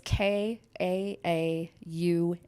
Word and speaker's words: Kaaum: It's so very, very confusing because Kaaum is pronounced in a million different ways. I've heard it all, but it's Kaaum as in Mary.